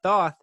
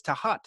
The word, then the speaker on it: Thoth: know the egyptian god thoth some people say thoth but apparently the egyptians tell me it's tahat and so i never really hear that so